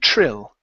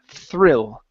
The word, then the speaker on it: thrill: so here you uh you ounc a TR saying Trill okay so let's let's pronounce a th th thrill thrill there you go okay push the tongue